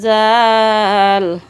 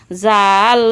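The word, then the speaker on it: ذال: জাল উচ্চারণ কেমন হবে? জাল জিহ্বার আগা থেকে নরমভাবে আদায় হবে, নইলে জিম যা অক্ষর আদায় হয়ে পড়া হারাম হয়ে যাবে। খারাপ আঁকা চিহ্নের এই জায়গায় সাবধান হও। জিম যা অক্ষর জিম যা অথবা জ অক্ষর আদায় হয়ে যেতে পারে।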